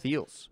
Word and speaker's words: Feals: And it's spelled F-E-A-L-S, not F-E-E-L-S, Ross. F-E-A-L-S. F-E-A-L-S. Feels.